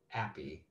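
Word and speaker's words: N-API: The NodeJS provides an API called Nappy, pronounced N as in the letter followed by API.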